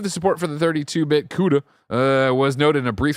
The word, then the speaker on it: CUDA: I'm going to say CUDA. Because coulda, woulda, shoulda.